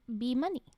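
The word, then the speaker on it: Beemuy: Hippitha Mata Baraguri and be money. But money. It's spelled like B-E-E, and then M-U, and then Y. Be money. Like be having a bunch of dough.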